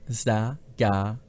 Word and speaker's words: Vesagara: Aussprache Vesagara. Visagara.